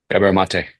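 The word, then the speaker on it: Gabor Maté: You're the guy that turned me on to uh Gabrielle um is it mate or how do you say his last name? Gabriel Mate. Mate. And maybe I'm saying it wrong.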